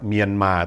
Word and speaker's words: เมียนมาร์: เรือ การัน นะ ครับ ภาษา พม่า เนี่ย ไม่ มี ร เรือ การัน ย้ำ เลย นะ ครับ เมียนมาร์ ต้อง ออก เสียง เมียน มา ถ้า หาก ว่า จะ